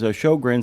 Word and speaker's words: Sjögren: This one is particularly important because Shogrins, which by the way is spelled SJ O G RN, uh Shogrin's disease,